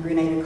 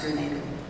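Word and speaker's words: Granada: the grenada relocations then would be townspeople in grenada colorado pronounce it that way almost everyone else is growing out that they call it grenade and the reason that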